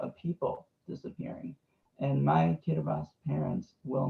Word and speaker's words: Kiribati: Everyone would think it was Kiribati, while the T and the I make the S sound. So it's Kiribati.